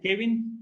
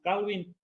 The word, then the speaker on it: Calvin: So you may pronounce him Kevin or something, but we pronounce Calvin.